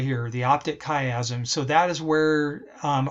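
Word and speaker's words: chiasm: crosses right here that's actually called the optic kaym that's how you pronounce this right here the optic kaym so that is where um our field of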